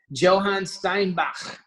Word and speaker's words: Johann Steynberg: Johann Steynberg is how his name is pronounced, not Steynberg for people like me.